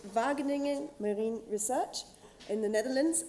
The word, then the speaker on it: Wageningen: Last but not least, uh we've got York Colin from the Vagening Vagening Marine Research in the Netherlands and he's going to talk to us about marine growth sampling tool evaluation.